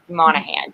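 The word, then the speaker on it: Monaghan: name wrong which is monahan because normally people don't expect there'd be a g then guess what we're irish there's a g and um but you don't pronounce it so whenever i whenever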